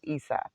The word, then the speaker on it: Aesop: And I wanted to see, sorry, Aesop, right? Because the A is silent.